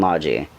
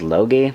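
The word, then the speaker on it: Logy: games this one is at lear eska and Lodgy I know it looks like it says logi but it's pronounced logic and they come on the PlayStation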